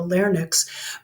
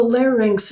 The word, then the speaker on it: larynx: Some people have trouble with the word larynx. I think even one of our instructors calls it the larynx, but it's the larynx, and it's kind of like, I don't know, have you ever heard of a lynx? It's a really big bobcat, Lynx, lynx, or anyway.